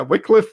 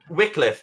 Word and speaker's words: Wycliffe: It is Wycliffe. This is going to be Wycliffe Esports versus... I have been bamboozled. Bamboozled. That's fine. It happens. So yeah, Wycliffe, which I'm enjoying saying properly after saying it wrong for about a year.